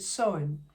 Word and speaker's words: Samhain: But today, it is the day of Samhain, or as it is spelled, literally, Samhain, and I think they pronounce it Samhain.